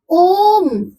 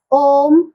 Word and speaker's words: ओम: जैसे ओम ओम यानी इसका तीन गुना समय इसमें लग रहा है।